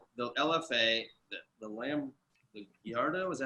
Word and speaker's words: Gallardo: I mean, I jumped in the F430, the LFA, the Lamb, the Gallardo. Is that how you say it? Yeah, Gallardo.